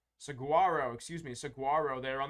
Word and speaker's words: Saguaro: another uh altar trainer this one's gonna be sagorio Saguaro excuse me Saguaro there on this All-Star trainer